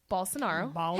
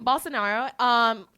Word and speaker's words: Bolsonaro: So the G7 came together, offered a $20 million donation to President Bolsonaro. Hey, I said it right this time. You better do that. Bolsonaro, to which he rejected it.